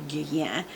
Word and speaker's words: Guerlain: Guerlain, some people pronounce it Guerlain, it's actually Guerlain.